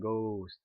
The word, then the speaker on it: ghost: But the word ghost with a GH is pronounced like a g, right? There's a g, ghost.